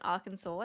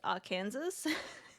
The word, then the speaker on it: Arkansas: Funyuns, you're in Arkansas. Nice. I only learned like in the last couple of months that it's not pronounced Arkansas and that it is Arkansas.